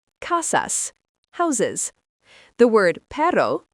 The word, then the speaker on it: perro: The word perro, pronounced perro, means dog.